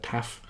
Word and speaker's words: tau: say it, I think they pronounce it taf in Greek, but I'm going to call it tau.